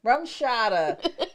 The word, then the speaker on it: RumChata: Rumchata.